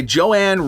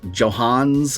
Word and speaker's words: Johannes: second segment suicide by Joanne Roberts I might have mispronounced the name it's like Johannes or something like that yeah Johannes yes okay Johannes Roberts who directed The